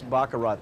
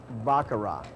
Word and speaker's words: Baccarat: And here we are at the famous Bakarat table. Yeah, it is spelled and pronounced Bakarat, not Bakarat.